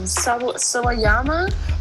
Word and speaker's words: Sawayama: I don't know how to pronounce her last name. Sawayama.